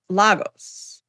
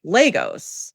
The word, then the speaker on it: Lagos: And she talked about Lagos, which The I've always capital, called right? it Lagos, right? And it's actually Lagos. It's not even Oh, Lagos, it's Lagos.